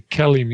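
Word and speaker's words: KELIM: questions absolutely the kellim the kellim is how we pronounce that Kellum right kellim yeah kellim is is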